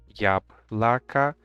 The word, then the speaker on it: яблоко: see here is that яблоко is pronounced with two A. Яблоко, it is only because these letters O are not stressed. That is why they are pronounced as letters A. We have stressed on the first vowel here.